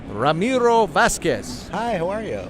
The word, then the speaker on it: Ramiro Vasquez: NAMM show nashville tennessee with our good friend Ramiro Vasquez I pronounced your name right sir you did hey